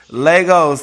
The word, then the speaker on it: Lagos: way over there in Lagos did I pronounce it right over there Legos like Legoland all right well shout